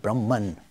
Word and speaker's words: Brahman: The Sanskrit pronunciation is Brahma, but in English we make it Brahman.